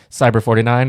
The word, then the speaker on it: Cyberh49: yeah and it's cyber cyber 49 the H is silent right is that what